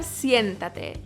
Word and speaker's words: siéntate: In terms of pronunciation, think of the English word si, add an N, and then tate. But make sure that T is soft.